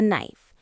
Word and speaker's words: knife: The knife used for cutting. Be careful with the pronunciation. The K is silent.